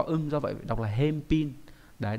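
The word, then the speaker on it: 返品: do vậy đọc là hem pin. Đấy, đấy là cái cách biến âm các bạn cần lưu ý.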